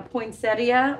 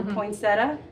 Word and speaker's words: poinsettia: A poinsettia or poinsetta. How do you say it? I don't put that extra I at the end. Poinsettia or poinsetta. It's pronounced both ways.